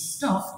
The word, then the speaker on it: stopped: Yes, sometimes the E and the D at the end sounds like a T.